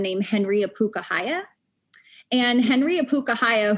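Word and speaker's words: ʻŌpūkahaʻia: And Henry Apukahaya, who they don't pronounce his name correctly, can't pronounce his name correctly, that's a whole other argument, call him Henry Abuka.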